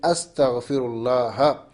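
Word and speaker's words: أستغفر الله: C'est astaghfirullah. Astaghfirullah. On n'a pas besoin de dire ha ou hi ou hu, sauf si la formule, on ne s'arrête pas là.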